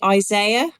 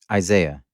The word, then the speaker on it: Isaiah: Mark do you say Isaiah Isaiah right so we say Isaiah no yeah did you not know that that's terrible yeah we say Isaiah because one eye is higher than the other one I say